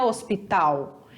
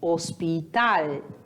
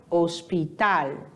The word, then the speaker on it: hospital: O que vai mudar é a sua pronúncia, porque em espanhol o L sempre vai ter som de L, nunca vai ter som de U. Então não é hospital, e sim hospital, hospital, certo?